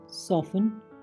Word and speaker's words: soften: Next, TE, ये भी कई बार साइलेंट हो जाता है। HASTEN हैसन, जल्दी करना। LISTEN लिसन, सुनना। OFTEN ऑफन, अक्सर या प्रायः। SOFTEN सॉफन, कोमल बनना।